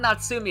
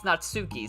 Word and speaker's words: Natsuki: Oh, wait, it's not Natsumi, it's Natsuki. Sorry, I said it wrong. It's a K, not an M.